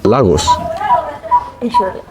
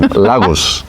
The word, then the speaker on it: Lagos: So I told her, hey, so are you from Lagos? No. Which for me is Spanish, Portuguese, like that's a Portuguese name. Lagos is a Portuguese name.